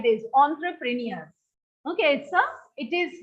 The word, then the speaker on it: entrepreneur: In fact, it is pronounced like this, entrepreneur. Okay, it is not English language, it is a French word. It is pronounced as entrepreneur.